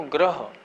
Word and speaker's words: ग्रह: यह तो ग्रह एक होता है नीचे गृह।